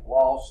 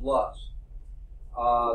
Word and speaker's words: loess: It looks like loss or something like that. It's pronounced loess.